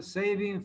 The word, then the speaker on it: Sabin: primero tenemos la prueba de sabin sa se pronuncia saving felman O sea la